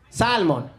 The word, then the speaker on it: salmon: please pronounce this word salmon we're going to have to deport you sir there's an L in there you have to pretend it's not there that's the American way